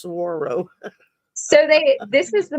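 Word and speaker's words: saguaro: earlier SRO it's it's it looks like a sagauro but it's pronounced Saro so they this is the most important uh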